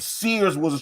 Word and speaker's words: Sears: They were trying to pronounce the Sears Tower, and Sears it's a one syllable fucking word.